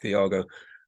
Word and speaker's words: Tiago: pronounce my name, it's Thiago. But if you're a Brazilian, then it's Thiago, and this is how Thiago says his name.